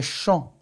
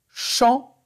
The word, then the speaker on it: champ: Alors, les mots sur lesquels on voit la lettre P et on n'entend pas le son P, c'est loup, quand, trop et champ.